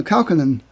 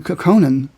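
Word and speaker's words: Kaukonen: I've only read aloud I remember yorma uh uh calcanin I spent years saying coconan because um because that's what I thought you know I just read it and I never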